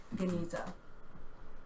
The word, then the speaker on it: Genizah: the Cairo I'll say I'm used to pronouncing it with a hard G so I'll say that Cairo Genizah um they've had they've